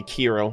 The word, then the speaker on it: Kiril: Yeah, I think it's Kiril. I just want to make sure that's how it's pronounced. I forgot how it was initially said. I haven't heard his name. Yeah, okay, Kiril. All right, yeah, I've been